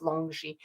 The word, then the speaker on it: longi: Dragon so homo longi and it would be pronounced longi uh homo longi is uh the dragon man